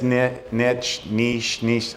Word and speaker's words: niche: And it's niche. I say niche because it rhymes with rich, not bitch.